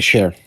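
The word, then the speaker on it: Cher: Share. Share is how you pronounce it though. I p I I like chair. I like like chair. I like good actors. Um, and Sher isn't one of them.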